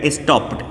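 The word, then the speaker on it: stopped: फिर आप जा रहे हैं प साउंड पे, तो प भी वाइब्रेट नहीं करेगा, तो बोलिएगा स्टॉप्ड, स्टॉप्ड। ठीक है, ड अभी तक बोलते आया था, अब ड नहीं बोलेगा, स्टॉप्ड।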